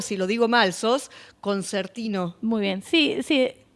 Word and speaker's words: concertino: Sos concertino. Muy bien. Sí, sí. Sería exactamente la pronunciación con conertino porque es en en italiano, no la he visto.